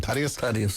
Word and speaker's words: Thaddeus: I think Thaddeus O'Sullivan, or Thaddeus O'Sullivan. How do you pronounce his name? Thaddeus, yeah.